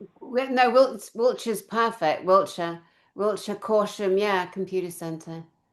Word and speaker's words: Wiltshire: Wiltshire.